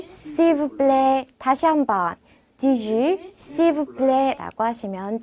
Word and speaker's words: du jus: 자, 제가 발음은 G라고 적어 드렸는데 G라고 하시면서 입을 좀 더 우하고 모아주세요. 그래서 주와 G 사이 발음이 나도록 해주시면 됩니다.